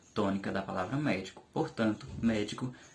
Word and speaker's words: médico: é uma palavra proparoxítona e observe também que na palavra médico é que eu não coloco a primeira a antepenúltima sílaba como a mais forte Ela não fica sendo médico ela fica sendo medico que é diferente do médico entendeu as palavras proparoxítonas